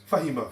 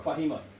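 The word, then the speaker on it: فَهِمَ: These are short vowels which cannot be stretched. Which cannot be stretched. So the way to pronounce it is quick. Fahima. Fahima.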